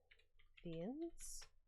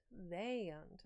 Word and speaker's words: viand: So, we're putting in viands. Maybe viand? Vayand. Okay. Hear that? Viand.